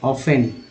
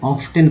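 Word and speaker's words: often: इसको बोलते हैं ऑफ, सॉरी टी जो है साइलेंट है। आप लोग शुरुआत में जो पढ़ने वाले बोलते हैं ऑफ्टन पढ़ते हैं, टी एन टेन और टॉफ टेन, जो गलत है।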